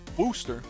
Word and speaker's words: Worcestershire: Rooster sauce. No, with a W. Wooster.